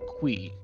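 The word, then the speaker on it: Qi: and by the way it is pronounced qui according to concerned ape himself he says qui so that's how it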